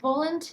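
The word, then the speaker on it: Woland: the time the main characters are so unique Poland that's how you would say his name in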